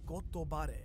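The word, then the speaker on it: ゴッドバレー: Now in Japanese, God Valley is actually pronounced as Gotobare, and bare in Japanese means actually to be exposed.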